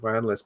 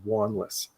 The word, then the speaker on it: Wanless: Yeah, most people say it's like my last name. Most people get it wrong as well. People pronounce it Wanless, but it's actually Wanless.